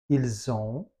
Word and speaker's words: ils ont: Le S qui a à la fin, on le prononce comme un Z.